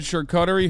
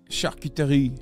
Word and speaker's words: charcuterie: You said charcuterie horrendously. It's charcuterie.